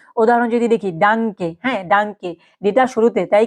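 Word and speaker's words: Danke: মতো মাথায় রাখবেন যেরকম কি উদাহরণ যদি দেখি ডাংকে হ্যাঁ ডাংকে ডিটা শুরুতে তাই কি ডাংকে তারপর কি মাঝে এইযে দেখেন হ্যা লাডেন লাডেন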